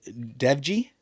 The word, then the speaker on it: Dewji: It's Zahid Dewji, spelled ZAHID DEWJI. The only reason I know it's pronounced Dewji is because I listened to when he says his name.